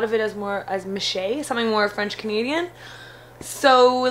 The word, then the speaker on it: Michea: Michea, if you could just tell us where that name came from.